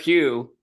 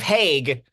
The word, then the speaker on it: Hague: I'm the sheriff, Sheriff Hugh. Damn, okay, for the audience, I told him how to pronounce that before we started, and he still can't get it. Sheriff Hague.